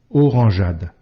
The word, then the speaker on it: orangeade: Ici, le son ja de orangeade s'écrit avec la lettre G suivie de E. Si tu oublies le E ici, tu n'obtiens pas le mot orangeade, mais le mot orangade.